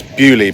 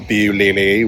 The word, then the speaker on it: Buie: called Little Buie, and it's Buie by the way, not Buie, whichever I was trying to pronounce it earlier.